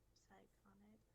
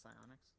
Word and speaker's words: psionics: Hold on, I'm trying to look at onomancy and psychonics. Oh, it's pronounced psionics.